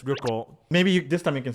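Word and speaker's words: 旅行: Yeah, it's ryoko.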